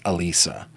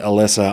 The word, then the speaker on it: Alisa: And they pronounced it Elisa. it's possible that everybody else pronounces it Alyssa.